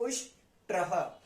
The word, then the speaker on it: उष्ट्रः: है double double में, तो इसको भी हम प्रोनाउंस ऐसे ही करेंगे। कैसे करेंगे? उष्ट्रः, उष्ट्रः, उष्ट्रः। ठीक है जी, उष्ट्रः।